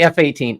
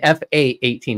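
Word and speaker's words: F/A-18: up I have an fa-18 also and and don't say F-18 because I'll have to we're gonna have to have a talk don't say F-18 it's an fa 18 it's a fight attack 18 team I hate it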